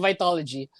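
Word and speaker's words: Vitalogy: Marv says, Pearl Jam's, how do you pronounce that? Vitology? Is that right? Vitology. Vitology. Just Vitology.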